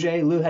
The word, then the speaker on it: Lou Hoguet: Lou, how do you say your last name? Lou Ho. Ho. Ho. It's spelled h o u g- t.